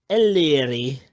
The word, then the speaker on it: Ellery: But Joe, The pronunciation is Larry, Ellery.